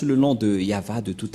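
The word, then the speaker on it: יהוה: Je vais vous apprendre directement, mais tout d'abord, on va bien regarder la photo, mais en lecture normale, on le lit Yahva.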